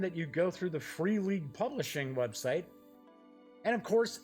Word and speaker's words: Free League: You can get the box set for an MSRP of $45.80 from the Free League Publishing website, or Freeligan, I believe is how it's pronounced. It is a Swedish company.